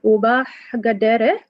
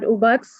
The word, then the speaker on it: Uba Gadere: Again, my name is Uba Gadere, and it's pronounced as Uba Gadere, not Ubax, Ubok, Gadere, or how it was pronounced at the 11 District endorsement meeting last Saturday.